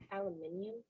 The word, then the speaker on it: aluminium: Aluminium?